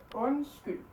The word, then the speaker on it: undskyld: Undskyld. So they're silent, they just change the sound of the rest of it.